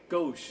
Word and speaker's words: Ghosh: pronounce this secret yeah gauche yeah like the French for left oh it's not spelled